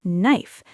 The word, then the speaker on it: knife: But if you listen first, you hear that the K is silent. You hear knife.